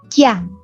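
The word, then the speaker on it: jiàn: Ji, berarti ji bacanya. Jian, huruf vokalnya belakangnya ian. Kalau digabung bacanya ian. Berarti ji dibaca ditambah dengan ian, jian.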